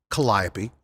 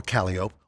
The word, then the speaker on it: Calliope: Charles on the parade route, like Melpomene or Melpomene, Calliope or Calliope, or Terpsichore or Terpsichore, it's New Orleans. You can pronounce them any way you want.